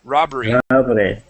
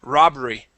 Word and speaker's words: robbery: Robbery. One more time, robbery. Robbery. Okay, the end here, you're pronouncing a hard R, saying robbery. Okay, robbery. Try that.